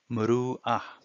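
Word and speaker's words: مروءة: it it says si muru'ah. See the red letter added to marwata is a hamza, and it's pronounced a. So muru'a, when you look up the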